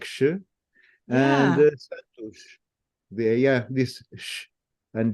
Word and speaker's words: Santos: It's just that the ush is very fast, but it's there. It's Santos. If I had to separate into different syllables, it would be Santos, right? But we say it fast, and so the last syllable is really short.